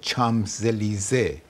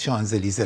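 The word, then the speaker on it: Champs-Élysées: ولی وسطش خب یه کاری هم میکنه، مثلا میگه وقتی در خیابون چامزلیزه که ما به غلط شانزلیزه تلفظ میکنیم، رسند جوان ما نمیدونه که اون ام ان خونده میشه تو فرانسه.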